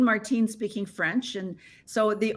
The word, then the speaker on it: Martine: um and then of course my first name Martine Martine speaking French and so the only time my name is pronounced when I went to Starbucks uh was